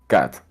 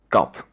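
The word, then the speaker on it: kat: cat is this and you'd pronounce this as cat right uh-huh yeah in dutch you'd say cut it's it's a different a caught like like like a cat like a cot okay interesting um i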